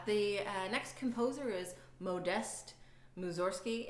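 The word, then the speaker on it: Modest Mussorgsky: the next composer is Moe dest moose or ski it looks like modest but it's pronounced memo nest moves or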